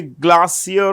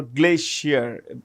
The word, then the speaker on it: glacier: You could say glassier or glacier both are fine pronunciations.